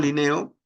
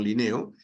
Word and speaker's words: Linneo: Carbon Linneo, o Carbon Linné, como quiera pronunciarlo en francés o en castellano, Carbon Linneo, es considerado el padre de la taxonomía.